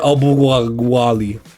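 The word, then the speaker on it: Okwuegbunam: Albert Albuwali. That's exactly how you pronounce it.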